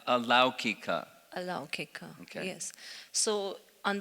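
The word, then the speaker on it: अलौकिक: The slide where there is a difference between Laukic and Alaukic, in the Vedas there is an Alaukic language and... That's just, the pronunciation is Laukika and Alaukika.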